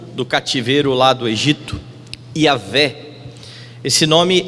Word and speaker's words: Yahweh: Comumente eu falo sobre Yavé, mas você vai ver pessoas brigando até a morte, dizendo que o nome de Deus não é Yavé, o nome é Yahweh, e tentando chegar perto